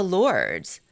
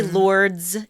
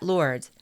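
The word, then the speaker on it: Lourdes: She went to Lords. I I say Lords even though I shouldn't. I know you don't pronounce the S, but the the village in France.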